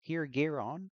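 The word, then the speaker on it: Piergeiron: Um, so this individual remains unmasked, and he is Pure Giron. I believe I'm pronouncing Pure Garon. It's Pure Garon.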